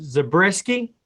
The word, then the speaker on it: Zabriskie: I'm going to butcher your last name, and I'm good for at least one butcher interview, but Zabriskie? That's perfect. That's exactly how you say it.